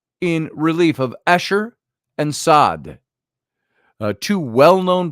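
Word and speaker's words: Saad: friend uh uh um sad Muhammad sad and uh um I'm sorry M sad who came on the show Once and was listening about a year ago spelled the same way s a a d and uh he's Egyptian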